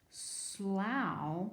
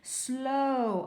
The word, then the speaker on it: slow: it sounds like cow Slough whoa wait a minute Slough it's not a word let's try it with the other sound Oh slow oh yeah a turtle